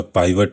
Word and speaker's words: pivot: Dear students, मैं आपको बताने जा रहा हूँ इस वीडियो में पिवट टेबल या पाइवट टेबल, जो भी आप प्रोनाउंसिएट करते हो, दोनों में से कोई भी चीज़ बोल सकते हैं आप।